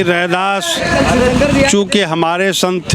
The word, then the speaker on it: रैदास: चल रही थी य हम जब रैदास बोलते हैं तो सही प्रोनंसिएशन करते सही नाम का उच्चारण कर रहे हैं लेकिन जैसे ही हम रविदास बोलते हैं तो हम ब्राह्मणवादी व्यवस्था के दिए हुए नाम पर चले जाते हैं आपका क्या विचार है